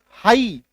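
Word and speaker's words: high: In fact H जो है कई केस में साइलेंट और होता है। जैसे कि एच आई जी एच हाई एच आई जी एच हाई आ रही है बात समझ में?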